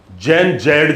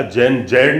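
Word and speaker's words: Gen Z: दूसरी बात, आप अभी चल रहे हैं नेपाल का, आपने घटनाक्रम देखा, जैन जी, जैन जैड जिसको कहा गया, जैन जैड नहीं है, जिसका प्रोनाउंसिएशन जैन जी है, यानी जनरेशन जी।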